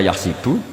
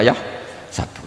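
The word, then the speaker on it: يحسب: Karena dalam qiraat sab'ah ada yang baca yahsibu, qiraat kita baca yahsabu.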